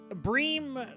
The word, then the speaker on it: Bream: Bream rhymes with dream, but I will tell you, finding a diamond Bream is no dream.